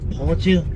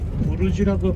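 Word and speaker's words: Burj: 버즈 또는 부르즈라고 발음을 하는 이 의미가 알고 있는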